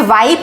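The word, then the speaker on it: wipe: Similarly अगर हमें वाइप लिखना है तो हम WIP बस नहीं लिखेंगे, ये विप बन जाएगा। आई के ओरिजिनल साउंड के लिए आई, उसके बाद एक कॉन्सोनेंट के बाद ई लिखना पड़ेगा, ठीक है।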